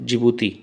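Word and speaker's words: Djibouti: तो यहाँ पर सोमालिया, इरिट्रिया, इथियोपिया और जिबूती, जिबूती को डिजबूती भी कहते हैं, जो कि डी वहाँ पर साइलेंट होता है, देख लीजिएगा।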